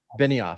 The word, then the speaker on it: Benioff: Benioff. I say Benioff, but it may not be accurate.